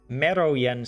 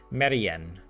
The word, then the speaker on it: merien: Okay, so yeah, I said it wrong. It's much simpler, right? I added in the O and the J when it's just Meri, Merien.